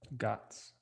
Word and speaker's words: GOTS: called the goths certification it's g-o-t-s guts okay like i gots this if you're from here